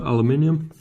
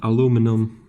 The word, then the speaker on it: aluminium: it's pretty solid actually it's aluminium or aluminum depending on how you want to pronounce it oh it works